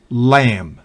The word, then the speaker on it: lamb: Por ejemplo, si B va después de M al final de una palabra, no se pronuncia. Por ejemplo, bomb, dumb, climb, lamb, thumb.